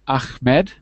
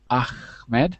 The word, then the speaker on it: Ahmed: a moment sayar hello Ahmed with the soft h ahed Huh hello John was that good today Ahmed yeah yeah you pronounce